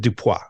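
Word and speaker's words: Dupieux: the director Quinton dup I'm going to say that as Frenchy as I can I'm sure it's probably yeah I'm gonna I'm gonna pronounce it dupa so uh but he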